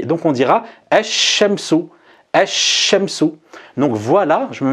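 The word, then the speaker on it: الشمس: le shin et le lem ne sera pas prononcé. Donc on dira ash-shamsu, ash-shamsu.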